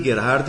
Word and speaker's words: Gerhard: Nossa conversa de hoje será com Gerhard. Falei Gerhard certo? Pode ser Gerhard. Pode ser, muita gente fala Gerhard, mas o correto por pronúncia alemã seria Gerhard. Esse Gerhard é alemão.